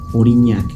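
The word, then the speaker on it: Aurignac: ya que a orinar se pronuncia en francés orinac palabra que se asemeja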